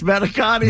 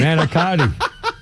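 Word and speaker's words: Manicotti: That's Manakotti. Manakotti.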